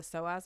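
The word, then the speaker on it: psoas: In the hips specifically, there's a muscle called the soaz muscle. It's spelled P S O A S and it's a really large muscle.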